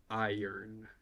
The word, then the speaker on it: iron: iRun but English is so weird that it's pronounced iron what did I say iron IUN yeah kind